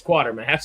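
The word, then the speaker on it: Quatermass: I was like, is that quarter mass or quarter mass? It's just it's quarter mass, right? It's quarter mass. I was like, that's not how you spell quarter. Right. Right. No, it's missing the R.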